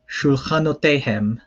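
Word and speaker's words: שֻׁלְחֲנוֹתֵיהֶם: So shul ha no te hem.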